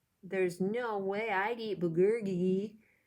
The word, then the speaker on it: bulgogi: food and justin answers it's bogoji bull what i don't know if i pronounce that right maybe someone here knows how to say it bulgogi it's korean barbecued beef